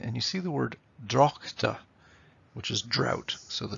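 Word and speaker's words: droghte: So it's the drocht of March. In other words, they wouldn't put in an extra syllable there and say the drochte of March. It's the drocht of March, and you can feel the rhythm beginning to flow.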